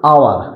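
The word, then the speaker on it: hour: আওয়ার। এটা কি? আওয়ার। তাহলে আওয়ার হলে এটার উচ্চারণ কি হয়েছে? সরে হয়েছে। তাহলে যেহেতু এটা উচ্চারণ হ হয় নাই, হ হলে আমাদের কি বসতো?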